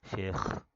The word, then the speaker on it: Sheikh: This is the front and back of Sheikh. See, notice किया मैंने pronunciation शेख कैसे किया मैंने. शेख शेख नहीं होता, वो तो मिल्क शेक बन जाएगा. शेख ये बोलना ज़रूरी है एंड में, ठीक है ना.